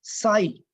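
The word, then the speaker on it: psi: और इसका सिंबल हैय साई पी एस आई प साइलेंट है साई का नाम देते हैं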